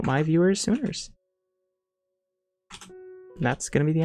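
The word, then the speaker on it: Suners: I was thinking the other day, we should call everyone who watches Crashsune, we should call them Sooners. Like S-U-N-E-R-S. No, pronounced soon with an E-R-S, like boomers. Sooners.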